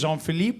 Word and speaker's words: Jean-Philip: The actual correct pronunciation is Jean-Philippe, but I just say Jean because it's just easier.